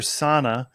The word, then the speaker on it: Sanne: So you're Sanne. And the E is like an A, so I'll try to remember that in the future. I always say it's like Susanna, but without the Sue.